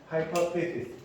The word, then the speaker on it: hypothesis: hypothesis. 발음.